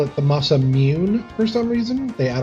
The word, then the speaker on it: Masamune: Some people call it the Masamune, which I think is natural. Other people call it the Masamune, which is the proper pronunciation, the E, Masamune. Other people call it the Masamune for some reason.